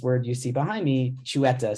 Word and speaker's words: Xueta: Jewish they must be chuetta that was the first time I heard this word you see behind me chueta spelled with an X and after seeing the